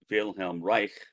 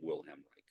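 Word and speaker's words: Wilhelm Reich: to that and again Vel Reich and I'm pronouncing his name in the German Way most Americans say will hamri but he was German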